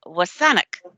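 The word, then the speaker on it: WSÁNEĆ: District sanich Gulf Island sanich Peninsula is a mispronunciation by settler people of the name wasan which is the nation and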